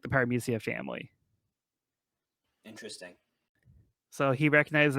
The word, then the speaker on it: Paramecia: Yeah, he said a Paramisa user. I'm probably pronouncing that wrong. But... Yeah, it's Paramecia. Yep. Other translations I've seen is Paramithia. Like Mithia. But Biz goes with Paramecia.